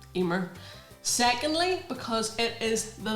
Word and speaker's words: femur: important reasons firstly because it rhymes with my name femur femur secondly because it is